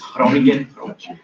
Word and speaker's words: Groningen: It's spelled Groningen, but it's pronounced Groningen. I don't know. Are there any Dutch people in the room? So hopefully I get the Dutch accent right. It's Groningen.